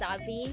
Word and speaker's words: Zabi: Sha Artisia or like Zab the Zabi family is just Zabi. B because V and B can be the same pronunciation in Japanese.